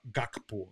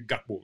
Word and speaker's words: Gakpo: who are Western background calling gakpo is actually gapo right you know because of um that I should be pronounced you know um but